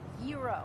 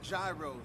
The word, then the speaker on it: gyro: i'm telling you joe it's pronounced hero yeah but in new york we call them gyros it's great now i got in a fight